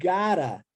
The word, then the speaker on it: gotta: Então, quando eu digo you gotta, olha só que interessante, esses 2 T's, entre o O e o A, eles são como se fossem um R.